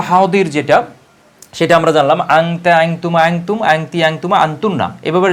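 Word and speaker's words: حاضر: বইগুলো লেখা আছে সেগুলোতে ফারসি ভাষায় এই দতের উচ্চারণ হচ্ছে জ এজন্য অনেকে এটাকে ফারসি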